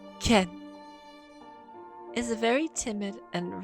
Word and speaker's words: Kin: was aided by tms akin pronounced ken is a very timid